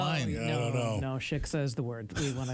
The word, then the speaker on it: shiksa: for the shitska. Right. Yes. Yes, and that's. Shiksa? Shiksa. Oh, sorry, said it wrong.